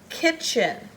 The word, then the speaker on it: kitchen: bracket all three but all you're going to hear is the CH that the T is silent and he but he